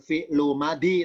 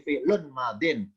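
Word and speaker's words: فِعْلٌ مَاضٍ: Bukan fi'lu madi, tapi fi'lun madin. Dua-duanya tanwin, bedanya kalau yang fi'il berbunyi lun, kalau yang madi berbunyi din.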